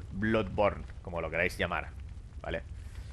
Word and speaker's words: Bloodborne: de ese tipo pero aquí la Blood es una especie de o abierta Blood pero no deja